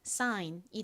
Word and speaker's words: sign: 그리고 g는 묵음으로 소리가 나지 않고 n은 니은 소리 나니까 연결하면 사인이 되죠.